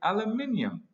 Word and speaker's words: aluminium: How do you say aluminum, Mr. Homer? I say it the correct way, Mr. Young. I say aluminium.